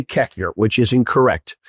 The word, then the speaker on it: Koechner: Cockner. Okay, that's how you should. Now, let's go through it. It's K O E C H N R. I say Kekner, which is incorrect.